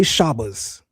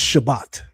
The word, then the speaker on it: Shabbat: We don't say shabas, it's Shabbat.